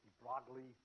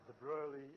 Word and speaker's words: de Broglie: Sometimes they call it de Broglie, sometimes de Broglie, and sometimes de Broglie. It's a French name, so it's hopeless.